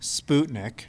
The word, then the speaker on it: Sputnik: You may have heard about the first satellite, which we pronounce as Sputnik. Fun fact, in Russian it's Sputnik. Now you know. You can go tell all your friends you know how to pronounce it correctly, which just means like